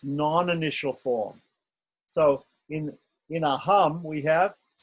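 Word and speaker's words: अहम्: So the syllables for aham are a and hum. Aham, right?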